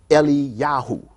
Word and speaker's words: Eliyahu: We have people who even took on that aspect of their name, like Elijah, which is pronounced Eliyahu.